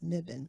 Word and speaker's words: Mebane: In any case, it's spelled differently than it's pronounced because the actual pronunciation is Mibbon.